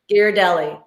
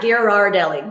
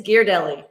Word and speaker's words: Ghirardelli: patty gear deli square gear deli not ghirardelli ghirardelli if you're a san franciscan it's gear deli so john do you